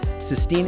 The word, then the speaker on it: Sistine: Sistine is blushing furiously, shouting, "It's Sistine! Stop mispronouncing it on purpose!"